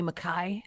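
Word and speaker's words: MacKay: line of scottish people ali makai is how you're supposed to pronounce my last name but then you sound like a pirate here in america um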